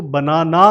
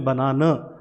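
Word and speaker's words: banana: तो आप देखें, इसे एंडिंग को जो है हमने कैसे बोला है? प्रोनाउंस किया है, इसको आ नहीं प्रोनाउंस किया, इसको बनाना नहीं बोला, हमने बनाना अ साउंड जो है लास्ट में प्रोनाउंस किया, यानी कि ये जो श्वा साउंड है आपको पता है इसे, ये न्यूट्रल साउंड है, इसे बोला जाता है।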